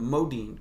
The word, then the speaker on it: Modine: is Matt yeah is Matthew Modine mo Dean correct yeah I mean Modi no